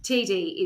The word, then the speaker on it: Tiede: also known as TD and the reason is it's spelled t-i-e-d-e-td Tita tidy tidy tidy tidy tidy is the way I say it but I've also heard it pronounced Tita so yes TD is what it should be I think it's